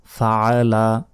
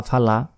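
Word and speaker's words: فَعَلَ: আমরা অনেকে বলি কাইফা ফালা এখানে আইনের উচ্চারণই করি না এটা হতে বলতে হবে ফাআলা ফাআলা ফাআলা ফাআলাও বলা যাবে না ফাআলা আলা আইনের উচ্চারণ গলার ভেতর থেকে হবে কাইফা ফালা রব্বুকা রাব্বুকা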